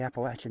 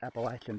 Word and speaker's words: Appalachian: When we get to the top, we will be right on the Appalachian Trail. It is pronounced Appalachian, by the way.